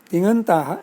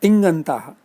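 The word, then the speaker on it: तिङन्तः: See, I am trying to be conscious to pronounce tigantaha as tigantaha. There should not be a sound of g in between, not tingantaha. Tingantaha. Ng only is to be pronounced as ng.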